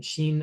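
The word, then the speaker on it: 心: and our body um Sheen and Sheen are written with two different characters um but they're pronounced the same Japanese is like that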